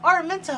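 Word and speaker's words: Araminta: say her name until I watched the movie and they're like Armenta I'm like oh that's how you say it I don't know what I was thinking in my head when I was like reading the book I think I just saw like Aurra and just said that I don't know but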